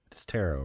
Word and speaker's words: tarot: dreamy uh teret ter is it pronounced terot or taret tarot right like t t cards t t a r o t is tarot tarot that's what I thought